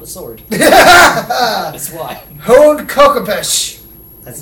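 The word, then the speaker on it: Khopesh: Hold Kokopesh. That's how it's pronounced. Kokopesh. Kokopuffs.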